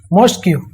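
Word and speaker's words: masque: Okay, एक type की building होती है, तो इसकी स्पेलिंग करेक्ट है मॉस्क्यू। मॉस्क्यू का मतलब होता है पपेट प्ले। ओके, या बोलना चाहिए मास्क पढ़ सकती है इसे, मॉस्क्यू तो नहीं पढ़ेंगे, मास्क एक टाइप का पपेट प्ले।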